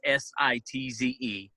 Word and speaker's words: Sitze: I mean, Sitze, it's Sitze, and it's, pronounced like campsite, but it's Sitze.